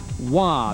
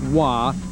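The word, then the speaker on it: Roy: In that game, goalies Mike Vernon out of Calgary and Montreal's Patrick Wah. That's spelled R O Y but pronounced Wah.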